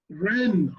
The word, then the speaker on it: Rennes: Rennes.